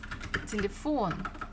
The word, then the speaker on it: телефон: So if it was falling on the first one, it would have sounded as telephone, telephone. But we pronounce this телефон, телефон. So it should be on the O.